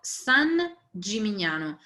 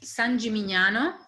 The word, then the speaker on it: San Gimignano: pens or your devices the town is called san gimignano s-a-n and then another word g-i-m-i-g-n-a-n-o san gimignano and it has this ice cream parlor on